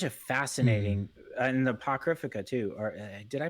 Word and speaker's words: Apocrypha: fascinating, and the Apocrypha too. Or did I pronounce that wrong? yeah, Yeah, Apocrypha.